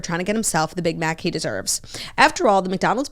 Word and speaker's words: Big Mac: sauce in every bite I have been mispronouncing Big Mac in um every single read that we've done for McDonald's somebody pointed that out I keep saying big mock like I don't know